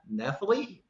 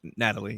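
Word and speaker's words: Nathalie: and stars uh Nath nathaly I think it's pronounced Natalie Natalie Natalie Emanuel she's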